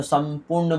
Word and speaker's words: संपूर्ण: तो संपूर्ण बोलते हैं, संपूर्ण। तो यहाँ पे संपूर्ण बोल रहे हैं तो ऐसा लग रहा है कि हमारा म का उच्चारण हो रहा है।